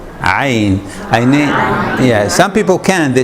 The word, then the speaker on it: ع: And this one, Ain. Ain. You know, most of you actually say it correctly. Ain.